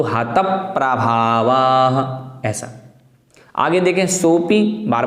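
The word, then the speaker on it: हतप्रभावाः: उसी प्रकार आगे देखना है, हतप प्रभावाः, हतप प्रभावाः। प्रा जो है वो प प्लस रा प्लस अ, इस प्रकार से निष्पन्न हुआ प्रा, तो हतप प्रभावाः ऐसा।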